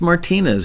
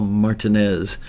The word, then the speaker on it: Martinez: at the hotel martinez not pronounced martinez as you might think but it was actually called the hotel martinez and i saw the